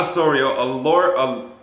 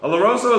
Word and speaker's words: Oloroso: Osorio, no, not Osorio, Oloroso. Oloroso is like a wine.